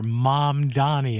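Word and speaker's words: Mamdani: I think of my mother and then Danny is a person I know and that's my little way to remember to pronounce it correctly.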